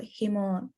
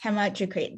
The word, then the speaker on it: hematocrit: two questions around hemoglobin or hemocrit i'm probably not pronouncing this yes hematocrit so the first one